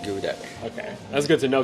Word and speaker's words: geoduck: good too oh called geoduck it's not I think the Pokemon is geoduck but yeah it's actually pronounced gooey duck I don't know how